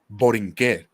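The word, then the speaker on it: Borinquen: It's called Borinque. I probably pronounced that super wrong, but I don't give a No, fuck.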